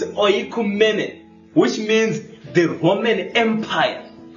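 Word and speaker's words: οἰκουμένη: Do you know that the word world there is, I always struggle to pronounce this Greek word, it's oikumene, which means the Roman Empire.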